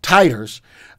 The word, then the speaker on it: titers: that the vaccine induced high titers i learned from my wife that's the right way to say that titers of serum igg and